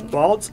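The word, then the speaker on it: Balsz: we're small and we're little so it is Balz Elementary School District B there's a t in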